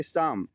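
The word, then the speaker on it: psalm: के पहले अगर पी आया तो पी भी साइलेंट रहेगा और एम के पहले अगर एल आया है तो उसको पढ़ेंगे शाम शाम मींस होता है भजन अब देखो हाफ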